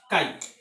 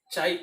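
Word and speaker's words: χ: It is like X, but it is pronounced as chi, chai or chi.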